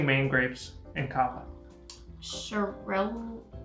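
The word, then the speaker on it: Xarel·lo: Cheryl-ooh, I think it's pronounced. It's like Cheryl-ooh. It starts with the X. It starts with an X though.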